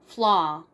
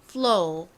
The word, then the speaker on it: flaw: 자, 먼저 미국식으로는 어떻게 발음하시면 되죠? 발음이 나니까 flaw, flaw 이렇게 발음이 나고요. 그리고 영국식으로는 flow 이렇게 발음이 납니다.